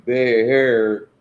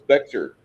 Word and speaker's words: Bexar: like I live in Bexar County or Gar County, and everybody's like, well, it says Bexar. It's Bexar.